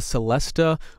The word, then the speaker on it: celesta: real samples we have a celesta or a celeste same instrument different way of spelling and pronouncing it um and we